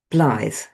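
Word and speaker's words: blaidd: for wolf in Brythonic is actually pronounced Blythe. It's spelt all weird. In Welsh, it's B-L-A-I-D-D. Double D is th in Welsh.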